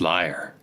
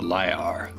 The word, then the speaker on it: Lyre: The reeds are descended from an ancient people called the Lyre. Just another variation of a name that sounds like the word liar. Or as in lies, like a liar, like one who lies in a politics drama.